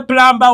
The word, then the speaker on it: plumber: letters olina agamba kankubire plumber wange I'm calling my plumber is a plumber plumber B is silent kwate kigambo plumber omanye